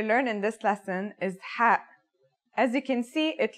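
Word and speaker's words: ح: Ha is the first letter of the second group, meaning that it has no counterpart in English. It sounds like the sound you make when trying to cool your mouth and throat after eating something very spicy.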